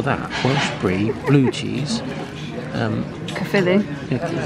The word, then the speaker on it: Caerphilly: Caerphilly. Is that how you pronounce it?